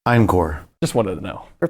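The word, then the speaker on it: Einqor: just Krell or their last name inor yeah spell that for us Johnny e i n q o r incore just wanted to know for paperwork reasons we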